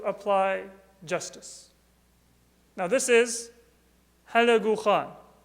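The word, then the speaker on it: Hulagu: In Islamic languages, in Arabic and Persian and Urdu, he's known as Halaku Khan. And that's not actually the proper pronunciation of his name, but halak is the Arabic word for annihilation.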